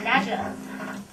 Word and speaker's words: nadgers: do Nadgers. What? Nadgers. Nadgers. Rhymes with badgers.